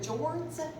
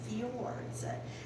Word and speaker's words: fjords: for the fjords now it looks like it's pronounced but jourdan's but we don't want to do that we want to make sure we pronounce a correctly even in Caldwell County that is fee Awards and that the orders aren't very inlets of